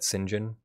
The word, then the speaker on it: St. John: You often drop the T, like when you pronounce St. John, some people call it Sinjin.